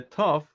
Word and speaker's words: Tov: Okay, so it could be a Sof or a Tov. The Ashkenazi pronunciation, if the letter has a dot, it's called a Tov.